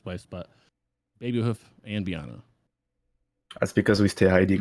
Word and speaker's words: Beanne: name oh um so it's meant to be pronounced Biana but be nice final you can be most